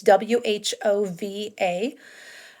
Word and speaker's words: Whova: It's WHOVA. Whova is how it's pronounced.